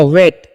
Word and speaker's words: wait: WAIT, तो W का उच्चारण व करते हैं, और AI जब भी रहेगा इंग्लिश वर्ड में तो AI का उच्चारण आपको एकले करना है, T से तो हो जाएगा, तो हो गया वेट। वेट मतलब क्या होता है, इंतजार करना।